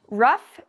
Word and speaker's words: rough: meanings in english it has an ou gh and it has this f sound to it rough means the opposite of